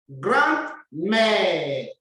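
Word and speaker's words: grand-mère: Grandmère. I'm saying grand because we see the hyphen, it's being hyphenated. So since the word is feminine, like mère, you bring the D to be pronounced.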